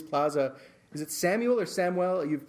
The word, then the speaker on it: Samuel: Technically technically it's Samuel because that's like the Spanish pronunciation, but in America we go by Samuel most most of the time.